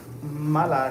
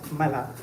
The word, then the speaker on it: Mala: So that is Mala, as in malpractice, Mala.